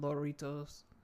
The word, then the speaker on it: lorito: And he said he calls them loritos. Lorito. I'm not saying it right. Like Dorito. Yeah. Dorito, but lorito.